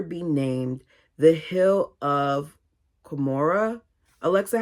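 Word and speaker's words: Cumorah: named the hill of Kamora. Alexa, how do you pronounce Cu M O R A H. Okay, here's pronunciations. I would pronounce it as Kamora.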